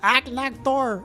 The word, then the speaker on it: Agnaktor: Diablos, Rathalos, Sparioth, and Agnaktor. I know it's pronounced more like Agnaktor or something, but I can't stop saying Agnaktor, which just sounds funny to me.